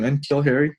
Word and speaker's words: N'Keal Harry: N'Keal Harry.